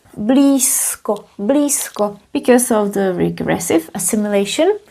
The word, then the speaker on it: blízko: You might have heard me saying blisco s and you heard that correctly. Although we write z, we pronounce it as s blisco because of the regressive assimilation.